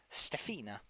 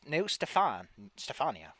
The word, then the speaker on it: Stefania: They introduce each other as God, even I can't pronounce Alicia, Stefina, no Stefania.